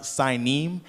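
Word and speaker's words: Sinim: my brother said that's actually I mean it's pronounced signim and that word actually is the country uh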